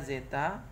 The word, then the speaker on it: zeta: Terus ada pengaruh satu lagi yang namanya zeta. Ini bacanya zeta, ya.